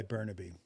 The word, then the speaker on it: Bernabe: Filipino like Filipino say say it like a Filipino yeah you have to roll the RS I've never getting to